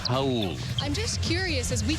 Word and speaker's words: Raul: It's spelled like the Spanish Raul, but again, it's Portuguese, and that's the way it's pronounced, Raul.